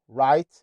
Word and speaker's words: right: لو جم في نص الكلمه واخرها عاده هيبقوا سايلنت، زي كلمه رايت.